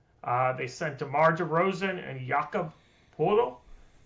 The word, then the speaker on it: Poeltl: They sent DeMar DeRozan and Jakob Poeltl. Or some people say I'm calling Pirtle, which is a kind of an odd pronunciation, but I've heard it both ways, Poeltl and Pirtle.